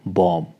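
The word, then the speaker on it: bomb: होते हैं for example बम अब इसकी बम की स्पेलिंग क्या है बी ओ एम बी पर जो लास्ट वाला बी है यह साइलेंट है हम इसको प्रोनाउंस कैसे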